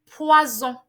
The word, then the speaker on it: poison: When your S is in between and then two vowels sandwich that S, it gives you the Z sound. Examples are poison, loisir, chaise. But when your S is not in between two vowels, it's pronounced as S.